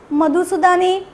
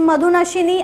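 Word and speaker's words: मधुनाशिनी: इसके अंदर है आल, मधुसूदनी, आई am sorry for the pronunciation, it's मधुनशिनी, amalaki, Tulsi, methi, jamun,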